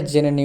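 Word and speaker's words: xenon: তাহলে ইন্ডেক্স তারপরে দেখো ইংরেজি শব্দে এক্স এর উচ্চারণ বর্গীয় জয় এর মতো হয় আমরা জেনে নেই উদাহরণ সহযোগি জেন একটি নিষ্ক্রিয় গ্যাসীয় মৌল পদার্থ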